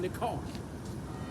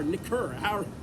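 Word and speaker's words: נכר: Hebrew nekar, N-E-K-E-R, and it's pronounced nikar, or nikur, however you want to say it, right?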